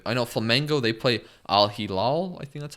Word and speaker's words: Al Hilal: I know Flamengo, they play Al Hilal. I think that's how you say it. Al Hilal, yes.